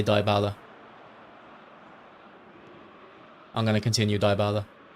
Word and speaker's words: Dybala: It's pronounced Dybala. I'm going to say Dybala.